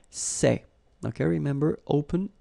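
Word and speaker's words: ces: for the plural form so masculine plural it would be say okay and then feminine plural good news it's the same so we've got one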